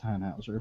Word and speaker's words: Tannhäuser: In Thrilling Intent, it is just pronounced Tannhauser because that's how it goes.